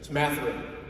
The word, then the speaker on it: Mathurin: know some questions about how you pronounce his last name and so we'll look at that straight it's matheran all right and ben